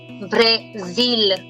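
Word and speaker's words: Brésil: Coming to Brazil in French is called Brazil. W is pronounced Brazil.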